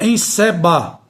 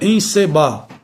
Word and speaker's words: encebar: Não é encebar, como a gente fala. O certo é encebar. Ou seja, o E permanece com o timbre fechado.